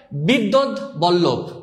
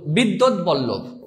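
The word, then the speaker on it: বিদ্বদ্বল্লভ: বৈরস্বই দয়ব, বৈরস্বই দয়ব, দয়ব লয় লয় ভ, অর্থাৎ উচ্চারণ করলে হয় বিদ্যুৎ বল্লভ, বিদ্যুৎ বল্লভ, অর্থাৎ বিদ দত বল লভ, বিদ্যুৎ বল্লভ।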